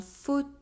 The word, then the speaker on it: fauteuil: - The sound The letters “-EUIL” at the end of a word are pronounced . Un fauteuil A chair The letters “-EUILL-” inside a word are also pronounced .